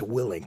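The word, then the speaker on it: Willink: like, okay, I hear this guy it's actually pronounced Willing, Jocko Willing.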